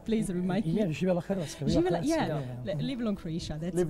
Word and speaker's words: Hrvatska: So we say Hrvatska.